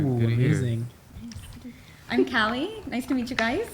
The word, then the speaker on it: Callie: That's how you Right, pronounce Cali. it. Exactly. Everyone thinks my name is Kelly, like Kelly. Right. But Callie. Cali. California. Cali.